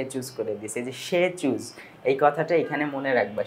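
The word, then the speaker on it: Tshechu: সে choose করে দিছে সে choose এই কথাটা এখানে মনে রাখবা সে চুজ এখানে টি উচ্চারণ হবে না প্রধান যে উৎসবটা প্রধান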